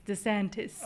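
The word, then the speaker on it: DeSantis: It's Dantis. Okay, that angers you so I always love saying his name wrong.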